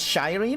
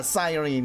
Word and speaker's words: Cyrene: I've been reading it as Shireen. Oh, okay. Yeah, Cyrene, exactly. Like S-A, like psychic. But apparently what I found surprising was the American pronunciation was Cyrene with a "ni" at the end.